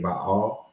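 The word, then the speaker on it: Baal: it in multiple ways I've seen people put the comma between the a's so that they can say bahal and some people call it bale you know who I'm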